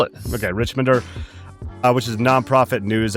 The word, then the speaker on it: Richmonder: Michael is the founding editor of the Richmonder. Is that how it's pronounced? I didn't ask you that. Rich, you nailed it. Okay. Richmonder, which is a nonprofit